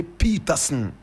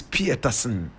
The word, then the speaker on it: Pieterson: Today we are telling the story of Hector Pieterson. Hector Pieterson. Hector is spelled H-E-C-T-O-R. Pieterson is P-I-E-T-E-R-S-U-N. Some people say Peterson and change the spelling. But the family insists that the name is Pieterson.